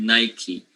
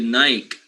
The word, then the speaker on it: Nike: in this case uh in the u.s they call it nike however in the rest of the world we call it nike right and the people